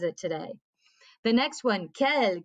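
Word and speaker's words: quelle: today the next one kel q-u-e-l-l-e okay so again it's pronounced the same way and we have seen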